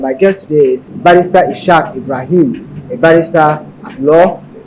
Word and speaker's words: Ishaq: I actually pronounce it as Ishaq.